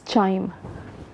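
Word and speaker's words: QIIME: chime in model so it's written as Qi ime buts pronounce this chime and this is mother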